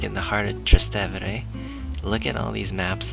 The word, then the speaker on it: Trastevere: But yeah, the streets here, we're in Trastevere, Rome? Trastevere, that's what you say. That's how you say it, Trastevere, Rome.